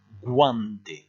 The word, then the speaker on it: guante: Ici, le U se prononce, on va dire guante.